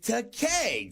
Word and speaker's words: Takei: What on earth would rhyme with Takei, George? Now let's see. Day, say, pay, may, gay. Oh, gay!